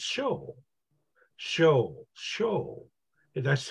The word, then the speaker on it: Saul: The word Saul, the name Saul in Aramaic, if you were to say the same name in Greek, you would say it Paul. Actually, you know, it's not pronounced Saul. It's actually pronounced Shol.